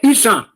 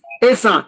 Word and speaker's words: Esan: It was the British that pronounced it as Esan, but the real word is Esan.